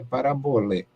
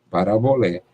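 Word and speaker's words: παραβολή: O grego, o acento forte, a tônica forte é a última sílaba. Micrós, macrós, e a última sílaba é que tem a acentuação forte, a tônica ali na última sílaba. Então, aqui, parabolé.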